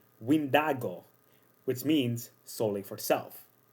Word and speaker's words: Wendigo: Heck, even the original name, yeah, it is not pronounced Wendigo. It was derived of a similar word from the Anishinaabe people, that they pronounce it as Windago, which means solely for